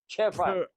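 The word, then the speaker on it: 吃饭: हाँ अच्छा हम लोग छी बोलते हैं ना, छी नहीं है इसका, इसकी असल प्रोनाउंस है ट्रफान Che chefan हाँ ट्रफान।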